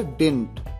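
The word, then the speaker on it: didn't: आई डिडंट work up टू द पार। यहां पर डिड नॉट का कॉन्ट्रैक्शन है डिडंट या डिंट, दोनों तरीके से इसे प्रोनाउंस किया जाता है।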